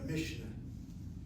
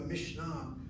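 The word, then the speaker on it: Mishnah: I hear how I'm saying it. That's the Yiddish way of saying it, the Mishna. And when I'm doing a Mishna, which is more Hebrew way of saying it, I am changing something.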